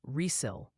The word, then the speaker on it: Riesel: Finally, the official word from the chat gallery is Riesel. Texas is pronounced Resil.